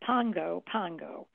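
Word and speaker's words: Pago Pago: for American Samoa and its capital city is Pongo Pango even though it's spelled p AO P goo it's pronounced Pongo Pongo wow and uh this is where about half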